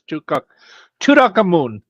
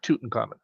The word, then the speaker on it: Tutankhamun: By the way, you mispronounced it. It's Tutankhamun, not Tutankhamun. Tutankhamun.